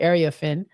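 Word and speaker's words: Iriafen: That's how you say it, Ariafin.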